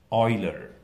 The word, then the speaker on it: Euler: name was Euler EUL ear and it's usually pronounced Euler and I had looked at this problem and